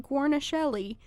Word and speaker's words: Guarnaschelli: child in a sense and that is Alex Guarnaschelli which I believe is how you pronounce that last name we're gonna hold yeah